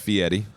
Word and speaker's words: Fieri: It is actually pronounced Fieri, and that is how Guy likes to have his name pronounced.